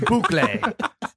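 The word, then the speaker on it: bouclé: It's pronounced rigatón and boucle. Yeah, it's boucle.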